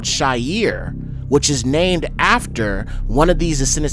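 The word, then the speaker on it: Seir: Okay, in the Aubari and you see right here in Hebrew it would be pronounced Shyier. Um, obviously they call it seair in the English, but we can see that it means shaggy hairy goat.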